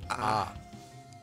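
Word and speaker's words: ㅏ: Letter is pronounced ah. Ah. Ah. Such as in the words law or car in American English.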